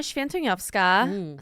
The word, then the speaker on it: Swietoniowska: of Originals is um yes so it's shanova say that fast 10 times no but